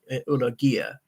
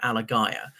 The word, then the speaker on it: Alagaiah: People couldn't pronounce his name, which he said is something like pronounced really Ulagaiah. And rather than correct people all the time, he just went with Alagaiah, which is a version of it that people found easiest to pronounce.